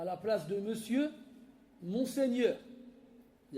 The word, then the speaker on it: monsieur: D'ailleurs, on écrit toujours pareil, mon sueur qui se prononce monsieur.